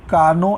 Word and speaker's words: Carnot: करेंगे for efficiency of कार्नो engine. सबसे पहली बात यह है कि कारनो इंजन डिजाइन किया था एक फ्रेंच इंजीनियर ने सादी कार्नो टी इसमें साइलेंट है 1824 में तो आप